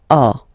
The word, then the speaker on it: as: Second one, tu as, okay? As usual in French, final S is not pronounced.